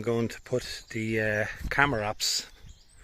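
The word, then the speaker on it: Chamaerops: to put the uh camaraps. Apparently, you pronounce it with a K. So, it's Camarops um the different varieties which I have here.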